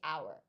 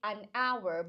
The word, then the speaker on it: hour: It has to be the sound and not exactly just the letter because when you pronounce our hour, the beginning sound does not actually pronounces the H.